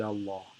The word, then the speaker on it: Allah: the light lamb and the ruling is that if there is a father or a bomber before the word allah then then the lamb is heavy otherwise it is light so it is pronounced